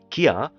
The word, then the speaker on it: Kia: It says that Hyundai and Kia, yeah, that's the pronunciation anyways.